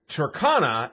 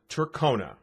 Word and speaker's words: Tercona: cone is spelled c-o-n-e simply put turkana is t-e-r-c-o-n ah there's no e there so it's turkana not turkona and that's how i